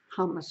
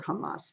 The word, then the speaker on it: Hamas: Let me tell you about Hamas or Hamas, depending on how you prefer to have it pronounced.